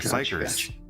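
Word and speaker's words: Psykers: Those are psychers. That's how you say it.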